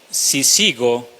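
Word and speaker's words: σύζυγος: griega que aparece aquí, sisigo, así como si sigo, pero con acento en la primera I.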